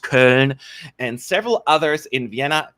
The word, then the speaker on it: Köln: Additionally, more than 60 individuals in Cologne, and it's pronounced Köln, and several others in Vienna, Wien, and Amsterdam